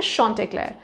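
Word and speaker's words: Chauntecleer: and his name is shant Clair that's the pronunciation okay shant Clair now shant Clair is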